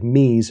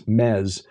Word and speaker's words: Mes: It's spelled M-E-S. Looks like Mies, but it's Mez.